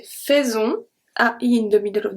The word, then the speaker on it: faisons: The next one, very important one, when AI is going to be pronounced as a E. And this is mostly for the verb faire, to do, to make, when it's conjugated. So let's see. Nous faisons. Faisons.